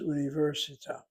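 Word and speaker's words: אוניברסיטה: Here you have an unusual situation where the accent is not the last syllable or the replacement syllable, the second to last, but it's the third to last syllable.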